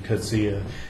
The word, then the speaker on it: Coetzee: Coetzee. And I know that's how his name is pronounced because I asked a South African here in Taiwan, and it was confirmed. It is Coetzee, Coetzee.